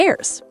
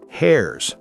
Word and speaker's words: heirs: The rest goes to the heirs. Heirs, not hairs.